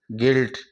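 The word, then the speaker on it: guilt: बाद में वो विल है तो यू को साइलेंट करते हुए यहां जी जी आई एल टी गिल्ट की ही ध्वनि निकालेंगे इस तरह साथियों यह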